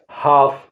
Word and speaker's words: half: HALF, हाफ, हाफ माने आधा।